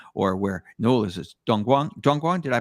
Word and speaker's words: Dongguan: Dongguan, did I pronounce that correct? Yeah, that's right. That's Dongguan.